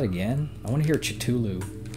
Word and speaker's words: Cthulhu: Chitulu! Have you ever heard it pronounced Chitulu? Is that how you're supposed to say it? I say Cthulhu.